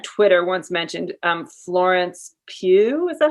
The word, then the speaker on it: Pugh: there's someone on twitter once mentioned um florence pugh is that how you say her name yeah